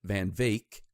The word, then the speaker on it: Van Wyck: But what brings Burt to South Africa is he's contacted by this guy Van Wyck, or is he pronounces it Van Vake.